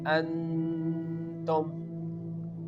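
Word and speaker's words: أَنتُمْ: Here the hamza is making a connection with the noon and the sound is going into your nose. So, we can pronounce it like an tum.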